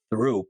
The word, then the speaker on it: Throop: released in a town called Troop or Throop. That's how it's spelled, but we say Troop, and people there talk different.